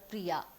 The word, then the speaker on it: Priya: Consider the word Priya, which is pronounced with a long a at the end. This has two syllables, Pri and Ya.